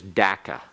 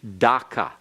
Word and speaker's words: Dhaka: British always said that the capital city was daca and they spelled it DAC CA there is no equivalent of C in the Bengali language out of its hundred and forty-two characters there is no C and it is a form of a K and there is no such thing as an ah sound in Bengali and so it should be Dhaka in fact it Bengali